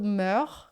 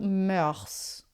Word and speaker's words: mœurs: Em francês a gente tem duas pronúncias aceitáveis para essa palavra, tanto mœurs quanto mœurs, tá?